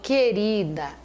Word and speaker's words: querida: único som então cuidado quando eu falo querida guerra guerra o u não é pronunciado né quando eu falo